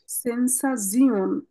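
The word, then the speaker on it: Sensation: পার্কে এটার উচ্চারণ হলো সেন্সা জিওন টি আই ও এন কে আমরা জিওন বলবো ও আচ্ছা সরি এটা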